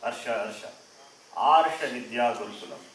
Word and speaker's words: Arsha: Arsha. What is that? This is often mispronounced. Arsha.